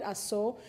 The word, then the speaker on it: Ashum: It is spelled Ashum, but my people call it Aso, because to forget Aso is to forget the blood that runs in my body.